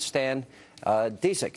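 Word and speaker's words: Stan Dziedzic: Stan Disick is here.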